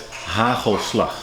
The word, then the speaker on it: hagelslag: So you have to pronounce it as hagelslag, and then it's back in the throat.